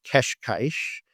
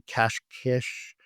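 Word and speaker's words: Cascais: Every time I say it to a Portuguese person, they correct me, but I'm going to say keshkish and it might be cashish. It's kash keshkish.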